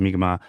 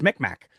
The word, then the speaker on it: Mi'kmaq: there is, for the Mi'kmaq, uh, there's a little bit of well, it's not pronounced like that goes on. There's the very Anglophone, oh, it's Micmac. And that's not right at all.